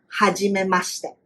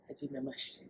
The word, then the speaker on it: hajimemashite: Or if you first meet somebody, hajimemashite is like nice meeting you. Let's say that again. Hajimemashite. Hajimemashite.